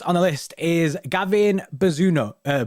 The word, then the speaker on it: Bazunu: dashed um first on the list is gavin bazuno uh bizunu gavin bazunu yeah that's it that's that we're really bad at pronouncing things on this channel you know i